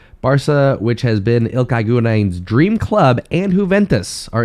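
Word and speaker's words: Gündoğan: I would be very worried for Gundogan, or Gundogan, however you want to pronounce it. Gundogan, I think is how we say it in America.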